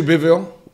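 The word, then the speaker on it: Bivol: Dimitri Bivial. Bivial.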